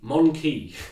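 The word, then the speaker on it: Mon-keigh: And a similar word from the Eldar is the Monkey, spelled MON_KEIGH, but pronounced very similar to monkey, because that's how they refer to us. Yes. We are the Monkai.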